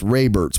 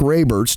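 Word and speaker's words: Raibert: as Boston Dynamics CEO I'm gonna say this is pronounced ray Bert's mark ray Mertz chief executive of Boston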